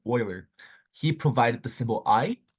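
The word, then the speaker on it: Euler: famous mathematician called lard Oiler um e l e r is pronounced Oiler he provided the symbol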